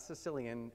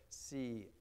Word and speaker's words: Cilician: Those would be the Sicilian pirates, not Sicilian as in from Sicily, but Cilician, I guess would be the pronunciation there, who controlled vast areas of the Eastern Mediterranean in the second and first century BCE.